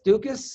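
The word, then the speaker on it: Daukaus: knows um so uh chris duck duckus dukis is how you say it anyway he's fighting alexi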